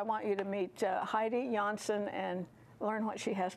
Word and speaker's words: Janshon: Very happy to welcome to Homekeepers Heidi Johansson. Did I pronounce that correctly? Janshon.